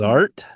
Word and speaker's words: Zart: Zart. It rhymes with art.